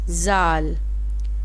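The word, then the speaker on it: ذال: Zal, ZAAL, zal. Zal is start for Z.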